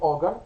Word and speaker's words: Auger: Julie Driscoll, Brian Auger, that's how you say it, and the Trinity,